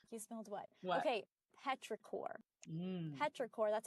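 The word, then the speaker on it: petrichor: Petraore. That's how that's how you pronounce it.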